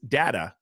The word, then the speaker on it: data: it's true but now there is data or data depending on how you say it to back that